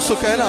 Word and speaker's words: سکینہ: حضرت سکینہ سلام علیہا، سکینہ کہا جاتا ہے، اصل میں نام سکینہ ہے، سکینہ اصل تلفظ سکینہ ہے، حضرت سکینہ سلام